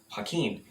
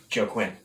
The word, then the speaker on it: Joaquin: than it actually is it's simply pronounced hakeem almost exactly in the inverse of quinoa i i bet you people pronounce it joe quinn because that's what i